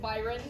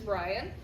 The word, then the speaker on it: Bryon: And the first time I met him, I called him Byron, so that is not how you pronounce his name. It is Bryon.